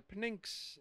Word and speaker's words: Pnyx: So I have a picture here of the Pnyx in, is that pronounced correct?